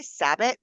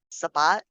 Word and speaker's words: Sabbat: Today's episode is the first in our Okay, I say Sabit. Is that pronouncing it wrong? Sabat.